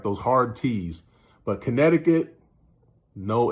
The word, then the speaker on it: Connecticut: But yeah, that C is silent, so it's just Connecticut.